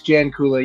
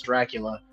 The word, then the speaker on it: Jancula: Yeah, it's uh, Janula.